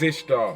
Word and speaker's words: Ishtar: This is Ishtar, which is pronounced Easter in English.